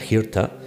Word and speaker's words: Hirta: os comentaba que era Hirta, el nombre de la isla principal derivara hasta Kilda. Hirta, de Hirta, os decía antes que esta H aspirada se pronunciaría Kirta, y que incluso la